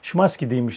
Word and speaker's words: Szymański: Yani okunuş biraz Szymański deniyormuş.